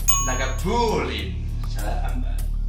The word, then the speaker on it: Lagavulin: Un clàssic que hauríeu de saber pronunciar perfectament. Lagavulin. Lagavulin. Punt pels dos. Lagavulin.